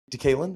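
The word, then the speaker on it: DeKaylin: You have this fan shouting, Decalen.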